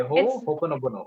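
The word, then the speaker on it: Ho'oponopono: Honopono.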